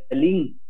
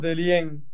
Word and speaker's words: Dellien: Aquí mis papás dicen que tu apellido se pronuncia Delín, pero yo escucho en otros lados que es Delien y en otros es Delien. ¿Cómo se pronuncia tu apellido, viejo? Sí, pronuncian de muchas maneras. Nosotros lo pronunciamos Delien. Delien. Esa es la forma.